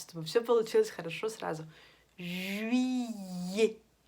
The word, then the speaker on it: juillet: Juillet. Е-т дает нам тоже звук «э».